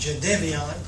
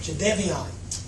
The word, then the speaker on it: Jadeveon: Obviously, we got some wonderful news this morning when Jade Devon Clowny and that's the way it's pronounced, Jade Devian.